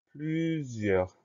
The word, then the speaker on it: plusieurs: Première syllabe, plus, P-L-U. Deuxième syllabe, zieur. Le son Z va s'écrire avec un S puisqu'il est entouré de deux voyelles. Ensuite, plusieurs, on va avoir le I, le E-U, et on finit avec R-S.